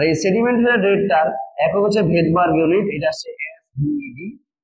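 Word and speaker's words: Svedberg: sedimentation rate আর এই sedimentation রেটটার একক হচ্ছে ভেদবার্গ ইউনিট এটা হচ্ছে এস বি ডি বি ই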